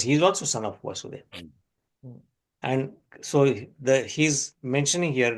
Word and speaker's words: Vasudeva: Vasudev. So this is pronounced as Vasudev, and Krishna is called Vāsudeva because he appeared as a son of Vasudeva.